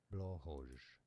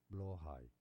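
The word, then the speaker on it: Blåhaj: talking about, it has different pronunciations. Let's break them down. Blowhoj. What? Is one of the Blowhoj? British, I believe. Let me know in the comments. Blowhoj. Alternative pronunciations in other Norse languages include blowhigh, Blowhigh.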